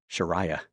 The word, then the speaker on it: Sharia: Muslims because they say under Sharia law or as they pronounce it sharaya the the you'll see